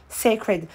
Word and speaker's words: Cécred: prononciation est très simple ça se prononce comme c'est écrit sacred en fait elle a